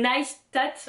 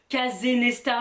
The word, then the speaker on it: Neistat: Il avait dit dans une vidéo un jour, Neistat comme Neistat, un tatou. Neistat. Là, Casey Neistat. Pas Casey Neistat ou Kazenesta.